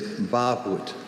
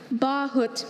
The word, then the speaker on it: bahut: Your word is bahut. Could you repeat that? Bahut. Bahut. May I have all the information? Bahut is also bahut, bahut, or bahut.